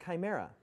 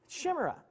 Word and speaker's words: chimera: sermon just a heads up that word is pronounced chimera i'm like no it's not shimra he's like no it's not so i i